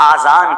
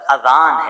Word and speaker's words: اذان: بعض لوگ آذان کہتے ہیں, یاد رہے پہلے اذان کہتے کس طرح ہے, اس کا تلفظ سے بچ لیں. آذان اذن کی جمع ہے, اذن کہتے کان کو, یہ آذان نہیں ہے, یہ لفظ اذان ہے, ٹھیک ہے.